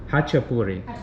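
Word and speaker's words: ხაჭაპური: And how do you pronounce it? Chashapuri? Hachapuri.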